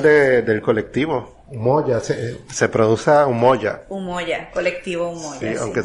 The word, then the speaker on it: Umoja: Se produce Umoja. Umoja, colectivo Umoja. Sí, aunque se escribe con Umoja, J.